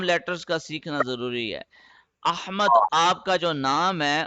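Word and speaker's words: أحمد: لفظ ہی نہیں ہے، یہ تو اردو میں احمد ہے، عربی میں احمد۔ پہلی بات حمزہ پہ فتحہ آ رہا ہے، دوسری بات ہا کو شارپ کر کے پڑھنا ہے، احمد، یہ ہے اصل تلفظ احمد، ٹھیک ہے۔ اب یہ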